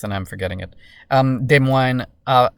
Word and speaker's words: Des Moines: Um, Des Moines uh, Des Moines, sorry, I should say, Iowa. I'm always tempted to say that in a French accent. It's not how it's said.